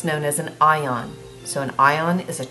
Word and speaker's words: anion: charged ions are called anions it's not pronounced an Yin it's an ion cation and anion and